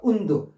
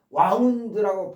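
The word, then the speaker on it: wound: 발음을 달리셔야 돼요. 와운드라고. 제 설명이 좀 부족했나요? 다시 한번 합시다. 여기서부터 절하겠습니다. 운드가 상처를 주다라는 뜻일 때 과거는 운디드예요. 운디드. 그런데이 단어 운드하고 똑같은 스펠링에 와운드라고 발음하면서 와인드라는 동사의 과거 와드가 있어요.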